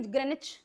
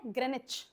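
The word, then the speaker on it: Greenwich: ग्रेनिच city का नाम क्या है? स्पेलिंग है ग्रीनविच। और बोलते कैसे हैं? ग्रेनिच।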